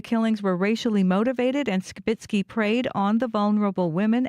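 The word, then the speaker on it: Skibicki: through the court proceedings Jeremy skitzki pronounces his name skitzki so we will now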